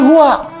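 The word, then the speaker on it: هو: Hu itu singkatan dari huwa. Singkatan dari huwa, hu disingkat huwa. Kalau Anda wakaf membaca kalimat bahkan dalam bahasa Arab, apalagi Al-Quran, berhenti pada kalimat huwa, maka huwanya nggak bunyi, bacanya hu, huwanya nggak bunyi.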